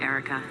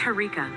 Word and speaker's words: Harika: No, you shouldn't call me Erica. It's Harika with an H.